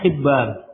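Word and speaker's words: حبان: Ini bacanya hayyan. Ini bacanya hibban.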